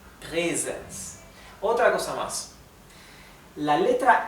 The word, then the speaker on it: Präsens: La A-Umlaut se pronuncia ¿sí? Por eso esto se pronuncia Präsens.